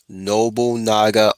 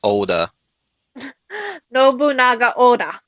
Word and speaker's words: Oda Nobunaga: finish out the sudoku storyline and remember granny noble naga oda nobunaga there you go yeah i've been trying to help help her pronounce these names properly as best i can